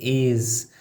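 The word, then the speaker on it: æ: Meet A, pronounced like the A in cat.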